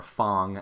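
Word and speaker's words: F.A.N.G: in the main roster being Fang or Fung as the now announcer pronounces it he looks like he's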